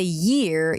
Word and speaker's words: year: So to say year, you do want to have the word ear inside of it. So basically what it means that if you're saying ear, then it means that you're like 98% there. All you need to do is add something small at the beginning. And that something is the y sound.